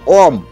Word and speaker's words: ওম: ওম এর আসল উচ্চারণ ওম।